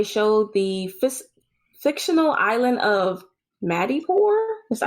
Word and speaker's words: Madripoor: And that they also believe that they showed the fictional island of Madripoor. Is that how you pronounce that? Yeah, in Madripoor.